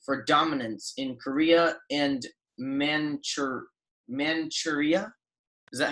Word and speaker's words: Manchuria: The war developed from Russia's and Japan's rivalry for dominance in Korea and Manchuria? Is that how it's pronounced?